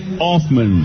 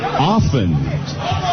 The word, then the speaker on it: Offen: Elegant Elliot Offman. I He's making me come back cuz I said his name wrong. Elegant Elliot Offen.